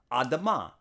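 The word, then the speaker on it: אדמה: Now, the Hebrew word being mistranslated as red is the same Hebrew letters used to pronounce the ground, for the ground, Adamah. It's just pronounced differently, Adumah here.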